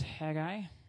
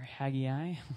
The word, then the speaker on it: Haggai: to look at today is Hagi or Hagi depending on how you pronounce it uh he prophesied around